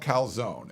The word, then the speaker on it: calzone: lot, but this meatball calzone looks really good. Um they tell you how to pronounce it. Calzone. Italian speakers say.